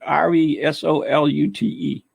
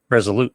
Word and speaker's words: Resolute: yeah you know right how you say it r-e-s-o-l-u-t-e resolute resolute there you go i was a ship